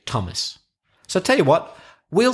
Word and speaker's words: Thomas: voice number two or like the T sound like Thomas or Thames or time which is number three